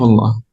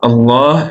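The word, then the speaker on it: الله: When do we do it with Tafkhim? When there's the theme is heavy, so when there's Dhamma or Fatha behind it. Right, Ahsant, perfect. When there's Fatha or Dhamma before it or behind it, as you said. And also when you start with it, when you start with Allah or Allahumma, you do what? You do it heavy or light. Heavy.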